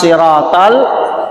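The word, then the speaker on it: صراط: Tapi perbaiki bacanya supaya tidak salah arti. Ihdinas siratal mustaqim. Siratal, sod, bukan sin. Bukan ihdinas siratal mustaqim. Bukan ihdinas si.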